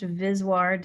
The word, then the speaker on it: VSWR: wave ratio abbreviated vswr sometimes pronounced viswar despite my strenuous objections i think it sounds stupid but it's pretty much industry standard to say it that way uh sometimes people also